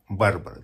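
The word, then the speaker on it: Барбра: Ее назвали Барбарой, без «а». Барбара. Так что правильно именно так, как я произношу и как я пишу.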